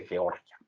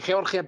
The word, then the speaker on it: Georgia: Creo que se pronuncia Georgia porque Georgia es el estado de Estados Unidos, pero según nos dicen algunos expertos políticos, se dice Georgia.